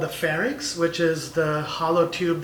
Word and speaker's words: pharynx: Seuss then there's certainly a lot of people pronounce them Lennox and fairness and I always make sure to correct them I pharynx and larynx but in normal people's vocabulary that